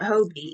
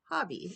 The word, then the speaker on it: Hobbii: wanting to call it Hobie even though after watching Bingo and Stefan who finally told us all that it's pronounced Hobby and not hob oops anyway have my